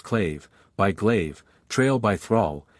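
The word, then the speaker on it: claidheamh: Britains I have translated clmh pronounced claive by glaive Trail by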